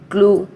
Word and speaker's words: clue: First rule: E can often be silent at the end of the word. Already you all know this. For example, clue, bake, taste. CLUE, clue. Here we are not pronouncing the letter E.